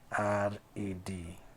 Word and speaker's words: read: The spelling of the past participle of this particular verb is actually the same, but it is pronounced as RED.